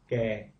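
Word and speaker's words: แก่: So, you know, all of a sudden I say, well, I've been pronouncing it fairly close, gay, but I've been extending it too long. And it should be shorter, gay.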